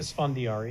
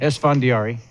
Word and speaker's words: Esfandiari: How would you pronounce it? Esfandiari. Esfandiari.